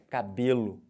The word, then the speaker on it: cabelo: Cabelo.